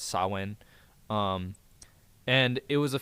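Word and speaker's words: Samhain: It was uh sawin uh that's spelled Sam Hayne and so a lot of people say Sam Hayne but it's sawin um and it was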